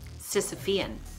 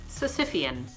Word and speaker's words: Sisyphean: the bad and the wordy today's word is Sisyphean or less commonly so sip e'en we are going with the first pronunciation according to the merriam-webster dictionary the adjectives